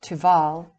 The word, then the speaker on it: Tupal: Another form of this word is Tupal, pronounced Tuval.